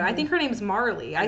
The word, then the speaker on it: Marle: So, and that's been kind of a Always pronounced it without the E, and then 20 years later, Final Fantasy VII Remake confirmed that I was correct.